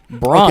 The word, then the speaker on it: Branagh: It's just Kenneth Branagh who plays dead the whole time, and Branagh.